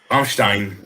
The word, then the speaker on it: Rammstein: Rammstein. Yeah. Rammstein.